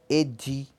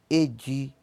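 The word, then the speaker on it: èjì: Número 2 em Yorubá pronuncia-se Edi. Edi. Tá? Acentinho lá em cima. Não esqueçam, tá? Fala fazendo biquinho.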